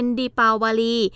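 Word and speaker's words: दीपावली: ฮินดี้ นะ คะ ก็ จะ ออก เสียง เป็น ดิ ปาวลี ซึ่ง หมาย ถึง ประทีป ที่ ชาว อินเดีย จุด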